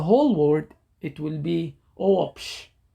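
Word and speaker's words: ⲟⲩⲱⲃϣ: Omicron and Epsilon combo, then you add a W sound in between. So when you pronounce the whole word, it will be Oopsh, Oopsh, Oopsh.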